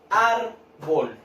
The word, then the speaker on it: árbol: Por ejemplo, la palabra árbol. Árbol. ¿Sí? Tiene dos sílabas, las separé en sílabas, y yo cargo la voz ¿en qué parte? Árbol. En ar, ¿cierto? En la sílaba ar.